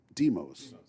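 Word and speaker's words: Demos: Deemos.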